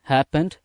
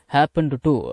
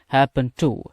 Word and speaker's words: happened to: தடவை சரி இப்ப கவனிங்க இந்த ஹாப்பன்ட் டு அப்படிங்கறத ஹாப்பன் டு அப்படின்னு சேர்த்து உச்சரிங்க ஹாப்பன்ட் டு அப்படினீங்கன்னா அது நல்லா இருக்காது இந்த happen அப்படிங்கறத happen அப்படின்னு உச்சரிங்க happen to happen to அப்படின்னுதான் உச்சரிக்கணும் சரிங்களா that has happened to